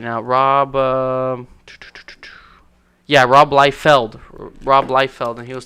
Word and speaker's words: Liefeld: the creator Rob Rob life-filled is how you say his name Rob I'll tell you right now Rob yeah Rob Liefeld Rob Liefeld and he